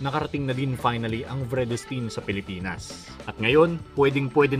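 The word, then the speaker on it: Vredestein: vestin hep he he vestin daw iyan ang pronunciation diyan nagsimula ang tire brand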